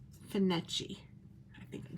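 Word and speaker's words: Findochty: Locals pronounce it as Finetchi. Fin as in fish. Finetchi.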